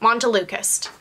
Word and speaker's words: montelukast: Montelukast.